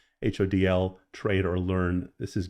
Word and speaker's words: HODL: HODL, not hold, but HODL, trade or learn.